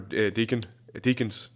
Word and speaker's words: Deakins: The cinematography is done by Roger Deakins. That's how you pronounce it.